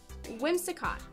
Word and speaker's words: Whimsicott: Whimsicott.